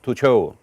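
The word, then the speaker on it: Tuchel: ครับ เมื่อ คืน นี่ ต้อง บอก ว่า โทมัส ทูโช ทีม นี่ มัน อนิกร ป่ะ ฮะ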